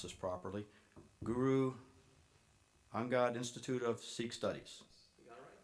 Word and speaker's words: Guru Angad: Okay, starting at the far end, Sher Singh with the, I'm not sure I can pronounce this properly, Guru Angad Institute of Sikh Studies.